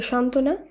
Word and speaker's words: সান্ত্বনা: এই যুক্তবর্ণ সহযোগে শব্দটিকে উচ্চারিত করতে হচ্ছে একইভাবে সান্ত্বনা এখানে দন্ত নয় তয় ব যুক্ত ব্যঞ্জনের সঙ্গে বফলা যুক্ত আছে কিন্তু শুদ্ধ উচ্চারণে শুধুমাত্র দন্ত নয় তই এই যুক্ত ব্যঞ্জন